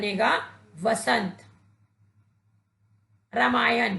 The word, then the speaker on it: रामायण: प्रयोग करेंगे तो शब्द का यह वसंत श्री रामायण कि बच्चों एक शब्द में ना का प्रयोग